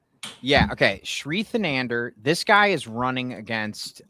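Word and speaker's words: Thanedar: The Nander. Yes. How do you say it? The Nander. He's horrible. Yeah. Okay. Shrianander.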